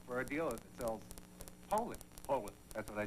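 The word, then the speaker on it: Poulan: So, when you're looking for a tough, dependable chainsaw, look for a dealer that sells Poulin.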